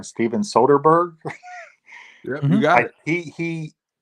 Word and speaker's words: Soderbergh: I don't want to pronounce his name wrong. Steven Soderbergh.